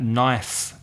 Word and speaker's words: knife: and remember listeners that knife with an F is the singular K n IFE so the K is silent knife but the plural